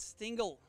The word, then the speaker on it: Stingle: from the last event stingle rhymes with Pringle that's how you say it I won get it